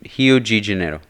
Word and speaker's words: Rio de Janeiro: Rio de Janeiro.